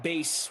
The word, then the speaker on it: bass: feels inevitable James says you should pronounce bass like base with those disco lights I had a 14-year-old that thought bass was bass and I had to